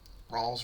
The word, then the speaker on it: Rales: It's Rales. Rales. One of the. I don't want to butcher the names.